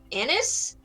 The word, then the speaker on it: anise: Anise? Sure. Zarenies? Anus. It's pronounced anise.